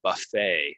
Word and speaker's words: buffet: of these words are we're not going to say the T it's going to be silent and it's gonna end in a right so uh my